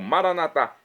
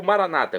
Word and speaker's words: Maranatá: Maranatá, como dizemos nós católicos, é do dialeto de Jesus, o aramaico, ou maranata, como dizem nossos irmãos das comunidades evangélicas ou protestantes. Não importa a pronúncia, o significado, é o mesmo.